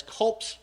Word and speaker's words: Culp's Farm: down south you can understand how locally it's col's Farm KB however if you look at a lot of the records and sources from the 150th to include their monument in Gettysburg they spell it as culp's Farm not C's farm so you can understand how there would be a little bit of a dialect issue there anyway so on